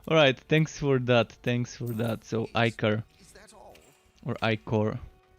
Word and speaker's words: ichor: so I had the right pronunciation back when I was playing Grim Dawn. I was always calling it Ichor.